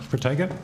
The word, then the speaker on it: Protego: Since, I don't know how you pronounce the Operation Protego, is that right? Yep, Protego.